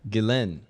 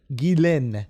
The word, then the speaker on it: Ghislaine: Just tell us how to pronounce your name. Ghislaine. Ghislaine. Yeah. Okay, Ghislaine.